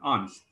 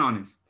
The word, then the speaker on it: honest: we need an honest here we have the silent h and the first sound we pronounced is o so we say an honest you know why we